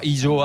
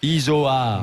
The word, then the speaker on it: Isoard: J'ai dit Isoard. À peu près, avec un O, pas un U. Isoard.